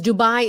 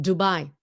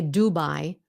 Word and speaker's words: Dubai: you know why because Dubai is pronounced the way the Vietnamese would pronounce it Dubai now we know that